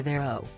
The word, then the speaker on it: Theroux: "You go by Theroux and I go by Theroux," Justin said. "Or to put it another way," Louis responded, "I use the correct pronunciation, and you use some weird, incorrect one."